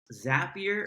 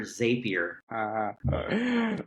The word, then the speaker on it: Zapier: have a question yes is it pronounced zapier or zapier how do you pronounce it well I've always said zapier and I want to know when you decided to start calling it zapier cuz you were a